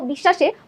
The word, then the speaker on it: বিশ্বাস: ঠিক আছে, বফলার কারণে আমাদের বিশ্বাস মাঝে যখন ছিল, দেখো এই বানানটাই দেখো, বিশ্বাসে বফলাটা আছে মাঝে, যখন মাঝে থাকে তখন আমরা উচ্চারণ করছি কি বিশ্বাস, দুইবার শয়ের উচ্চারণ করছি।